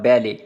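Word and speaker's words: ballet: एक वर्ड पढ़ा था बैले, ठीक है, वो ई टी है, ये ओ टी है, बैलेट बॉक्सेस। इसके अंदर ये टी साइलेंट नहीं होगा, लेकिन इसके अंदर टी साइलेंट था जिसका मतलब था रक्स,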